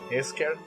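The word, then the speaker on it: Escher: dibujos de es es Es eser Cómo se pronuncia no sé Bueno mira se deletrea e s c h e r y a los amigos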